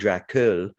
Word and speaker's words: Dracul: believe it's called dracul that's how i would say it as a montrealer perhaps a canadian would say or an american might pronounce it differently but i would say dracula dras without dracula without the a at the end um pretends to be